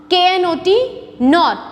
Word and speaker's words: knot: spellings pronunciations for instance not and not not knot k is silent their spellings are different